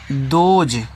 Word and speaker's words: those: टी देखो टी से आपके यहाँ पे दा हो गया, ओ से ओ की मात्रा, ऐसे से आपका यहाँ पे जा, ई का उच्चारण लास्ट में आपका होता नहीं है तो हो गया दोज।